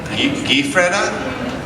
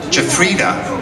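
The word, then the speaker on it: Giuffrida: Gifreda. How do you say it? Jafrida.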